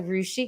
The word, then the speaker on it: Rushi: So Rushi, because you said like sushi, right?